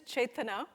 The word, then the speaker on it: Chetana: on the back and call me my name with three syllables it can get pretty tricky my name is Chetan ah it's a Hindi name